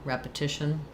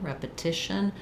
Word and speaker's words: repetition: Notice that because that word is stressed on the syllable starting with the T, that I use a true T there, tition, repetition, rather than a stopped or a flap T, like I would in something like button for the stop T or water for the flap T, repetition.